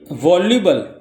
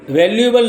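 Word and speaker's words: voluble: हम बोलते हैं लकॉनिक ए वॉल्यूबल वॉल्यूबल वैल्युएबल नहीं है क्योंकि कभी-कभी बच्चे ऐसे समझते हैं कि वैल्यू एबल है और गलती से स्पेलिंग रंग लिखा है ऐसा नहीं है ये भी एक नया वर्ड है वॉल्यूबल एक मीनिंग के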